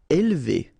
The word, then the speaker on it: élever: Élever. Alright, so don't pronounce this here. Élever, élever.